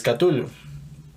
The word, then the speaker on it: Cthulhu: La llamada de Cthulhu, yo lo pronuncio así, Cthulhu, eso es algo que me han enseñado. Pero bueno, como ya lo mencionó Marilu, no hay corrección, porque el mismo Lovecraft decía que la fonética humana no es capaz de pronunciar estos nombres, ni siquiera el de la ciudad de Rhyl o Rhyl, muchos lo conocen como Rhyl, entonces no, realmente no hay una corrección.